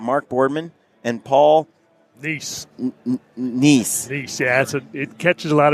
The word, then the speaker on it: Neess: It's like nephew Neess, just like that. Yep, easy. Got it. Yeah, that makes it easier, but it's not spelled like that. It is. Yeah, EES. Yeah, but not niece like my niece at home.